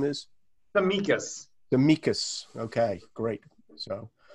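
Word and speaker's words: Tsimikas: olympiacos 12 million pounds sorry his name is the mikas the mikas okay great so um so uh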